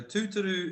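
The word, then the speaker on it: tūturu: were talking about the other thing being so tuturu is a word that means to be like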